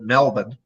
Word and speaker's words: Melbourne: was in uh uh i'm gonna pronounce it the way the australians pronounce it melbourne uh funny funny story